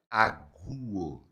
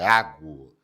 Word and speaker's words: águo: Então, para você entender que não é aguo, é águo. Então, corrija a sua pronúncia.